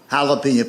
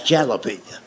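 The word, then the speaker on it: jalapeño: That's jalapeno. And I made the mistake of trying to explain that to him. I said, I know it's a J, but it's pronounced with an H.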